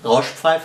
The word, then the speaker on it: Rauschpfeife: Okay, this one's a so-called Rauschpfeife, and to all the English native speakers, this is the way you pronounce it. Rauschpfeife, not Rauschpfeife or something like that. Rauschpfeife, say it.